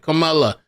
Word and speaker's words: Kamala: person it's Kamala Harris it's kind of like Kama plus la it's not K CA camela Pamela with a K and it's not Tony